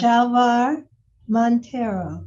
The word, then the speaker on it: Chalvar Monteiro: Shalvar Montero.